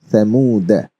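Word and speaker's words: ثمودا: Thamuda, alif was silenced. Thamuda.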